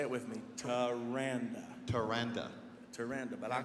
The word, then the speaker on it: Taranda: but Tim and I, we've how do you pronounce her name? Her name is, say it with me, Taranda.